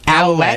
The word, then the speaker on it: Ouellet: Ole. Is that how it's pronounced? Ouellet.